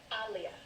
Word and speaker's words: Aaliyah: Aaliyah. Oh, jeez. Like Muhammad Ali.